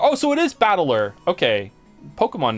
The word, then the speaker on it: Battler: of characters for fight and person and it's pronounced battler oh so it is battler okay Pokemon name put it all together and